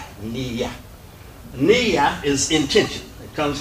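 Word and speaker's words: نية: Niyyatun is the word, but we just said Niyyah and pronounce this as if it's Niyyah.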